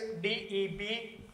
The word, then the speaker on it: debtors: Okay, debtors, the spelling is DEBTORS. B remains silent and it is pronounced debtors. Debtors, એવું નથી બોલવાનું. You have to pronounce it as debtors.